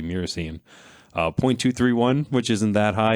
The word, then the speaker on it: myrcene: After that, the next one is myrcene or myrcene. Again, some viewer comments on how you say it, MYR. So I say myrcene.